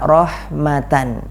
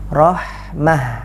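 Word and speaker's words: رحمة: marbutoh yang berharakat fathatain cara bacanya bukan rohmata bukan dipanjangkan dua harokat karena bukan mati What tapi cara bacanya Rohmah tak marbutoh nya disukunkan dan diganti dengan hak besar Hai kemudian eh dari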